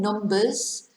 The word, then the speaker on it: number: four five six seven numbers and then you have number where the b is silent and number is um